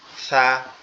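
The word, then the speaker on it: ثاء: আর যেটা সা আছে, সাটা হচ্ছে আমাদের জিহ্বার আগা দুই দাঁতের আগার সঙ্গে লাগবে, লেগে উচ্চারিত হবে সা, সা, সা।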